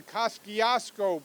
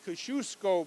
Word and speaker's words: Kosciuszko: we used to refer to it as the Koski osco bridge the proper pronunciation is the Kosciusko bridge which is the reflects the heritage of